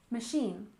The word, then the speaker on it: machine: we have machine learning we stress the second syllable in machine machine and learning we stress